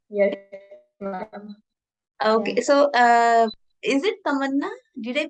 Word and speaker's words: Tamanna: Okay, so is it Tamanna? Did I pronounce it correctly or something else? Yes, ma'am. No, ma'am. You are pronouncing it correctly. It's Tamanna.